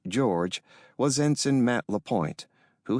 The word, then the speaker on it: JORG: In this case, the junior officer requiring guidance, JORG, pronounced George, was Ensign Matt LaPointe, who had just graduated from the Naval Academy.